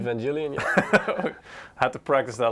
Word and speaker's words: Evangelion: We will be looking at a dazzling, how do we pronounce this again? Evangelion? Evangelion, yeah.